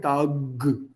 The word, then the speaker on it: Tag: Guten Tag. K. Not Guten Tag. K, not g. Guten Tag. Words that end with B,